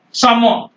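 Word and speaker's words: salmon: गया कम ये है समोन सामन एल नहीं है और है यहां पर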